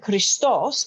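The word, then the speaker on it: Χριστός: god sorry jesus christ christos which is the the right way to say it and its code which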